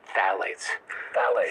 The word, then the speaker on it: phthalates: should know is called phthalates. Phthalates. It's spelled with a P-H. It is the worst way to spell it. It's like an alphabetical mess.